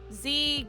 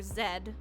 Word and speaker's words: Z: Or Zed, depending on how you want to pronounce it. How do you guys pronounce Z? I know it depends on, like, what country people are from and also what regions, but I just say Z. I don't go Zed.